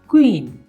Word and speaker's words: queen: मेरे साथ बोलिएगा आप, या आपने क्या प्रोनाउंस किया? क्व। अब हम उसके एग्जाम्पल्स देख लेते हैं, जैसे कि QUEEN क्या बना? क्वीन।